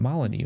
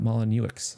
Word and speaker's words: Molyneux: video of earlier and you pronounced his name maloney not malinowicz so that he was